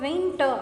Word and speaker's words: winter: Now if you take the word winter. Okay. Now say the word winter. So the letter R at the end is never pronounced. is it? So here R is silent here.